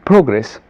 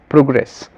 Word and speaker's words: progress: of course in pronunciation the noun is progress but the verb is progress with the stress on the first self egypt has achieved the